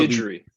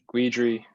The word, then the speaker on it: Guidry: Yeah, I hear people say Guidry, Guidry. It's Guidry. I read it as I don't really care though. It's like a hard last name to pronounce. Like looking at it, there's like a million different ways in English you could say it.